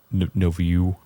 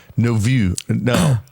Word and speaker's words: nouveau: No view. I was able to say that until you said it and now I can't do it. I don't have I novo is how you say that.